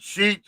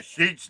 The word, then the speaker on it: Sheetz: And What Sheets you- is all over the place up here. Which sheets? How you spell that? SHEETZ. Oh, okay. Like sheet with a Z.